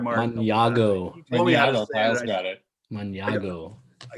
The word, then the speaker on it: Mañago: Maniago.